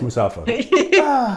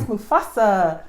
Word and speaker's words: Mufasa: No, it's Musafa. What is it? Musafa. It is not. Oh, you pronounced it wrong. Kina. Mufa. Kina, what's the answer? Mufasa? It He said is. Mustafa.